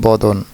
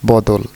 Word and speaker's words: বদন: শব্দের ভুল উচ্চারণ করছে শব্দটি বদন শিশুটি গাইছে বদল জাতীয় সংগীত গাওয়া শেষ হলে শান্ত পরিবেশে শিশুটিকে আবার ওই লাইনটি গাইতে বললাম সে একই রকম ভুল করছে এবার বদল ভুল উচ্চারণের সংশোধন করে আসল শব্দটি বদন আনলাম শব্দটির অর্থ কি